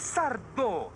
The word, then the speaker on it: Sardo: por favor señor sardo es sardo sin señor con acento en la o tengo que hablar con